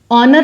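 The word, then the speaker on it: honour: अगर sound vowel की है, दी ऑनर, ऑनर लिखा कॉन्सोनेंट से, साउंड ओ की है तो इसको दी प्रोनाउंस करेंगे, लिखेंगे THE लेकिन बोलेंगे दी।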